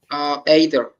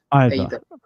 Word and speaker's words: either: Either. Yeah, so the pronunciation is strange. There's two pronunciations. Some people say either, some people say either. But you can't say either. It's just either or either.